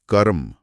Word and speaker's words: कर्म: आप खुद बोल कर देखिए। कर्म क पर एक जोर आता है। कर्म। हां, क पर हल्का सा स्ट्रेस आ रहा है।